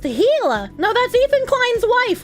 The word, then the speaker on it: Gila: cute they're very cute Gila is pronounced hila no that's Ethan Klein's